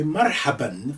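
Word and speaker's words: مرحبًا: not pronounce that um generally speaking they will say marhaba but you can say marhaban for those who want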